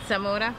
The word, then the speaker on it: Zamora: Zamora. Zamora? Yes. Did I say it right? Yes. I don't have that groovy No, rolling of the R. No, you said it right.